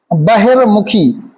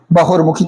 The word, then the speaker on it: बहिर्मुखी: एक वर्तनी आपकी परीक्षाओं में बेहद महत्वपूर्ण है बहिर्मुखी कौन सी बटनी है आपकी परीक्षा में आई हुई है बहिर्मुखी बहुमुखी थोड़ी लिखना है हमें क्या लिखना है यहां